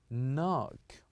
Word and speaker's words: knock: we have learned that we all always keep the K the K silent so here the word will be knock knock say after me